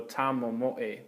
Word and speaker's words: tamomoe: So this form I add another syllable, okay? So I add the mo again, so tamomoe, okay?